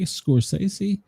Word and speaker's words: Scorsese: Martin Scorsese, say it right, Scorsese.